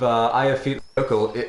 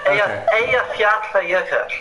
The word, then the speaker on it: Eyjafjallajökull: Oh, that would make sense because basically the effects of Eyjafjallajökull, was that even close? No. Eyjafjallajökull. Fjallajökull, okay. At least I got all the syllables.